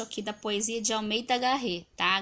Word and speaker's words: Garrett: da poesia de almeida garrett tá garré desculpa na pronúncia realmente né eu tô falando como se lê mas a pronúncia é diferente quem souber aí pronuncia